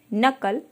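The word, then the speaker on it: knuckle: इसको प्रोनंसिएशन करते हैं अब के के नाइफ नो नॉलेज इन सभी में हमारा के साउंड साइलेंट है नकल केवल हम एन के साउंड से इसको प्रंट करें नाइफ में चाकू नो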